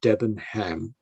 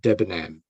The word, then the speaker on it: Debenham: you know and then you don't say debenham but debenham so you don't pronounce the h uh leicester is pronounced